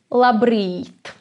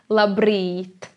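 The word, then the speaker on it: labrīt: in let me and it sounds like la brit i hope you have learned how to roll the yar la brit reads it means morning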